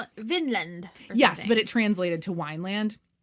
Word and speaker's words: Vinland: it right, as but Wineland. They would have pronounced it Vinland.